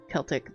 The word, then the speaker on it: Celtic: It is Celtic. There are all seas in the Celtic languages are hard. There is no soft sea.